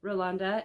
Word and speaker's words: Rolanda: Rolanda of Hand-Dyed by Rolanda in Canada at Stitch North. So very recently, and she asked her in person, how do you say your name? Please help us. And so it was Rolanda.